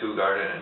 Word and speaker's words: Hoegaarden: beer world renowned I guess this is a who Garden it's spelled oh Garden but it's pronounced who Garden in fact it even says how to pronounce